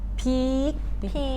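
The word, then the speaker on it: พีค: or climax right but how we pronounce it is like peek high tone again peek yeah it means like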